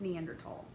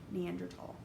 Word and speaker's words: Neanderthal: so they read it which like i get it has a th but that's not how you say it it's neanderthal so now if you hear someone say wrong you'd be like that's wrong the correct way neanderthal okay um but if